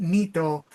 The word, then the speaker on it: NEET: It's NEET, N-E-T, but they pronounce it nito.